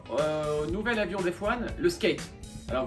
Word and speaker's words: SK8: avion des fois le skate alors vous voyez marqué sk8 mais ça se prononce bien skate le skate c'est le